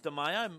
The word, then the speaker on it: DeMeo: Yeah, but you got the pronunciation right. It is DeMeo, but it wasn't Max that scored that one.